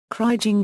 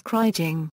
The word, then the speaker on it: kriging: The English verb is to krige and the most common noun is kriging. Both are often pronounced with a hard G, following the pronunciation of the name Krige.